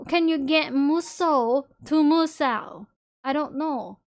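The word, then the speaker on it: 無双: Because I've seen people mispronounce muso as... What's they do that? What did they do? Muso as... What's this type of game? Musao. Yeah, they would say musao.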